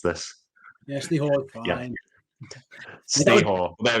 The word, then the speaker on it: Ste Hoare: I can never remember how to pronounce this. Yeah, Ste Hoare, fine.